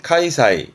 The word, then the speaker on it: 開催: 발음은 카이사이, 카이사이.